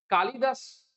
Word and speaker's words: कालिदास: कालिदास, इसमें जो है वो ल में जो आती है छोटी की मात्रा आती है। प्रोनाउंसिएशन में भी आप देख रहे हैं, उच्चारण में भी आप सुन रहे होंगे, तो कालिदास।